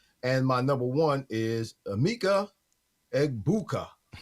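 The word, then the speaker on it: Egbuka: And my number one is Eggbuka. That's how you say his name. Eggbuka.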